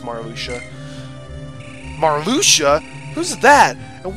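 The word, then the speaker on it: Marluxia: when I play this game it was good pronounced amar Alexia and I think that but it sounds cooler but now it's Mara Lucia Mar Lucia who's that and what do they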